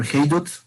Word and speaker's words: Haydut: I go under the moniker Haydut. It's spelled H-A-I, D as in dog, U, T as in Tom.